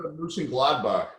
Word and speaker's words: Mönchengladbach: How do you pronounce their team's name? Mönchengladbach.